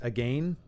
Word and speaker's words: again: and fight again and I'm pretty sure it's supposed to be pronounced again because back in the day they they like the word again rhymed was often rhymed with words like ended with Aim so it sounds ridiculous